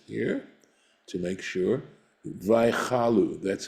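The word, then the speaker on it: ויכלו: Vaychalu, that's how it's pronounced, right?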